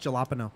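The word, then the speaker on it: jalapeño: jalapeno jalap and then it goes to It's pronounced jalapeno it goes to Cayenne I'm dating a Spanish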